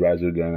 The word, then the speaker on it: Resogun: I don't know how that game's pronounced. It's Resogun, that's how I pronounce it.